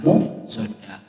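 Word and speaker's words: مؤصدة: Ketika ada tar marbutoh di akhir kalimat, maka dibaca ha, ya. Di sini tulisannya adalah muqsadatun, ya, maka dibacanya adalah muqsadah.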